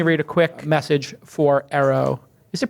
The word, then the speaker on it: Eero: Hey, let me read a quick message for Arrow. Is it pronounced Arrow? What is it pronounced? It's Eero, right?